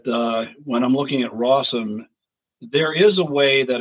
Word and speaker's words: Rossum: the company that I always want to pronounce rosum for some reason but rossom um do you want